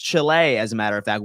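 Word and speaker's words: Chili: York what's going on just so you can mispronounce it Chile New York Chile actually it is pronounced Chile as a matter of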